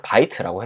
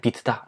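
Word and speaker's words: Vite: 애가 뭔지 좀 알아봐야겠죠 우리는 일단이 영어 단어만 보면은 바이트 라고 해석을 할 수 있긴 한데 어이 비트를 실제 만든 분이 발음은 비트다 해놨어요 그래서 얘를 잠깐 찾아볼게요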